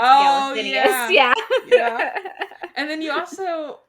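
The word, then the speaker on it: Galathynius: I say Aelin Gallianthus, and you told me it's Galathinius.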